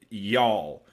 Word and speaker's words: You'll: this track he spells it yule but he pronounces it y'all which is absolutely what he's going for right